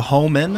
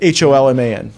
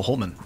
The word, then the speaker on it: Holman: The Homan? Homan Rule. How do you spell that? H-O-M-I-N, is it? H-O-L-M-A-N. Oh, Holman.